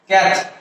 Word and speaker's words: Catholic: এখানে আমরা কি ও ভালটাকে আমরা ড্রপ করে দেব। ও ভালটাকে ড্রপ করে দিলে কি হয়? ক্যাথলিক। উচ্চারণ হবে কি ক্যাথলিক।